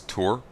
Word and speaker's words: Tor: Probably saying that wrong, but yeah, I remember someone, Arch Warhammer was saying that the correct pronunciation of Tor was Tour. It's spelled T-O-R. Remember him claiming that. And I think I remember seeing T-O-R floating around before elsewhere. It's just the way it's said, it ends up sounding like school tour.